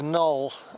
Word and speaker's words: Knoll: I'm up Brent null and the uh the K is silent in null. Um it wasn't in Anglo-Saxon times. It was a C in Anglo-Saxon times, but that C sound um it is disappeared from from our language.